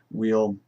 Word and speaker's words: Weil: Simone Weil is a correct pronunciation in the French, but I've called her Simone Weil for so long. It's I think in English it would probably be Weil.